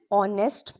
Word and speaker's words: honest: We say an honest man, not a honest man. Why? Because H is silent, the word starts with the vowel sound.